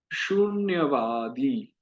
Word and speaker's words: शून्यवादी: जैसे यहाँ शून्यवादी में उकार बड़ा है तो थोड़ा समय दीजिए। शून्यवादी, आ बड़ा है, ई बड़ा है, तो थोड़ा समय दीजिए।